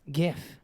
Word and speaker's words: GIF: no really oh there there's people that say JF and I'm like it's not I like that's not how it's pronounced okay it's pronounced GIF and then and then it gets a complex